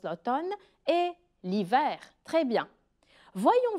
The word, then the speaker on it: l'automne: y a aussi l'automne faites attention comment on prononce l'automne et l'hiver très bien voyons voir maintenant la